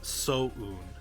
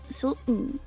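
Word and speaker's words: Soun: Yeah, it's So-un. So-un. Like, you do pronounce the separation between so and un. So-un.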